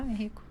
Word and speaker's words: Henrico: Manuela Pérez é mãe de 2 adolescentes, Isabela e Henrico, pronunciei certo? Henrico.